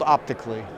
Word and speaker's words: OptiiQ: That's called OptiiQ. OptiiQ, and I remember looking at it in the booth. It's spelled OPTIIQLY.